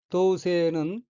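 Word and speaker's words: 同棲: 셋째 줄 오른편 두 번째 어휘는 한자가 한국어로 동서이고 한 가지 동, 깃들일 서자로 되어 있고 일본어로는 도우세라고 읽으며 도우세는 한 집에 같이 사는 것, 법률상의 혼인관계가 없는 남녀가 한 집에 살며 생활하는 것, 동거를 의미합니다.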